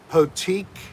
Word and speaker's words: Potique: Potique.